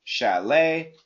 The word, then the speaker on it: chalet: Ballet, chalet, valet. Okay, the intonation, the sound is always the same.